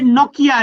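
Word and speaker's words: Nortje: का सारा दिन, ये नोकिया, नोकिया जिस तरह मोबाइल फोन नहीं, नोकिया। नोकिया, ओके, हाँ जी। साइलेंट।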